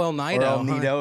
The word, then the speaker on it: El Nido: out in illinois oh el nido if you want to say it correctly is that really how you say it that's i i believe how you say it if you're using the spanish pronunciation yeah i'll need the